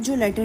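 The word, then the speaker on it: ذال: अपनी जुबान की नोक को फ्रंट के दांतों से लगाइए और फिर प्रोनाउंस कीजिए। ज़ल लेटर ज़ल। जाल जो है नरमी वाले हरूफों में आता है।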